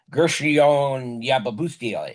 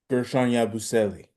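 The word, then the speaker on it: Guerschon Yabusele: I mean, the highest on from the bench is the one guy's name I can barely pronounce these days, Gershon Yababustiele. Am I close? Gershon Yabusele.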